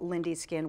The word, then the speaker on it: Lindy: with Lindy skin which even though your name is spelled with a y l i n d y you call it Lindy skin with an i that's right and the